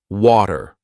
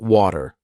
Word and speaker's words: water: now I started saying water not water water almost like a d/r even so what's the